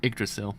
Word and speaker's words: Yggdrasil: why GG D ras-i a trestle that's a Yggdrasil that's how you pronounce across a gristle in egrets in egg